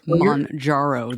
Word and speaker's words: Mounjaro: I'm not sure I pronounced it correctly, but it is Mounjaro. The N comes first.